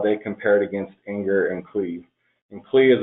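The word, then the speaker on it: angr: For symbolic execution, there's, I believe it's pronounced anger, which has been used against Tiano Core and EDK2.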